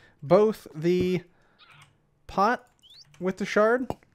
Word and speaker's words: sherd: And today we are focusing on pottery shards. And it is called shards, actually. I don't understand why it's called sherd, S-H-E-R-D, when it's pronounced shard, S-H-A-R-D.